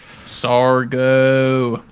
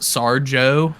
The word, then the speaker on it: Sargo: I pronounce it Sarjo just because I see Sarge and I'm like, yeah, per Sarge. But yeah, I've gone Sargo. It could be Sarjo. Like Sargento. Sargo. However they pronounce the fish.